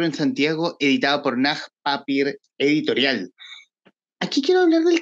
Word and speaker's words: Papier: costó aprender que aprender que se pronuncia así no tal cual se lee Claro claro tiene una palabra alemana cierto Bueno a papier llego